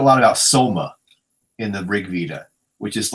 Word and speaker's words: Rig Veda: Um, uh, the one I'm familiar with, I've read is the Rig Veda. Rig Veda, how do you pronounce it?